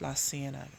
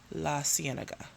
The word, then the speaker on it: La Cienega: My mom pronounced it La Cienega. So I think of La Cienega Boulevard. La Cienega. So that is how I pronounce this word, La Cienega.